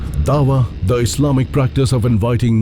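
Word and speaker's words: Da'wah: Dawa is the way it's pronounced and what it means is to plead or to call non-Muslims to Islam.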